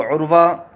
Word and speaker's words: عروہ: یہ نام رکھنا درست ہے کہ نہیں۔ تو عروہ، پہلے تو اس کا صحیح تلفظ میں آپ کو بتا دیتا ہوں کہ